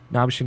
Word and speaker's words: Nabeshin: Nabshin is at NABESHIN 186. And that's Nabshin 186. The fuck? That's how it's spelled. Like, that's why I spell it out. And if people are curious, because Nabashin doesn't sound like Nabshin, which is how it's spelled, I should just say.